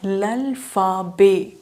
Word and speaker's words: alphabet: Alphabets in French are pronounced as l'alphabet. You can see here L is followed by a vowel, so you are going to pronounce it as l'alphabet.